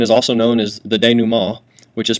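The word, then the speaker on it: dénouement: that a resolution is also known as the de new ma which is pronounced de new ma and it's a French word that basically means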